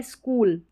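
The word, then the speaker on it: school: ये है स्कूल। अब इसको स्कूल को हम स्कूल सी एच को क ही पढ़ेंगे। च नहीं पढ़ सकते।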